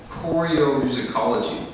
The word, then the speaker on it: choreomusicology: in a field called choreomusicology. Everybody say that. Choreomusicology. Choreomusicology. Oh my gosh, 8 syllable. Is that right? Choreomusicology. Go ahead. Oreo. Huh? Yeah, like a cookie, right? Oreo.